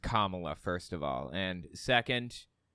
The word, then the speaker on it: Kamala: uh 2024 primary uh okay her name is pronounced Kamala first of all and second um yeah Trump